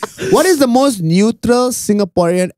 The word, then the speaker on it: Singapore: What is the most neutral Singaporean accent that you can make? Like, the most neutral. Your Honor? No, not Your Honor. Senator, I'm a Singaporean. You know what is the most neutral Singaporean accent?